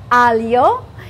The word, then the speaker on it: aglio: Aglio.